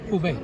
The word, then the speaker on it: Hubei: How do you pronounce it right? Is it Hubei? Hubei.